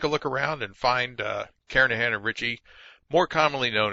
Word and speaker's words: Kernighan: We will be using the Kernighan and Ritchie, or Kernighan, I should say, the G is silent, Kernighan and Ritchie C programming language book that you see down there in the right corner of the screen.